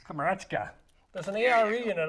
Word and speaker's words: Komarechka: We have Komarechka with us on the line today.